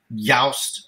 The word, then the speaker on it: Joost: Joost. Joost. Oh. Joost. Joost. Joost. No, Y-O-O-S-T. That is the phonetic way to write down my name and say it right.